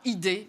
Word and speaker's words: IDEE: C'est bien IDEE, c'est très bien prononcé. Voilà, bravo. Vous m'avez un peu accompagné. J'aurais été tenté de dire l'IDET, mais c'est l'IDEE qui est inspirée, développée des environnements de travail.